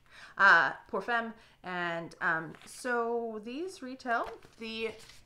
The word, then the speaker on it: Pour Femme: Then we have Dolce & Gabbana Light Blue for Home and Femme. I know that's not how you say it. Pour Femme.